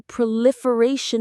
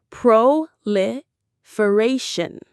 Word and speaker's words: proliferation: Proliferation. Listen to the rhythm. The stress is on that fourth syllable, the ray.